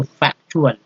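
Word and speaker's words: factual: तो यहाँ देखिए चुअल जो है, ये चुअल तो फैक्चुअल उच्चारण हुआ।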